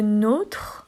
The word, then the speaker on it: nôtre: Par exemple, on fait la différence avec le mot nôtre, par exemple, c'est le nôtre. Le nôtre, il a un accent, donc le O est fermé.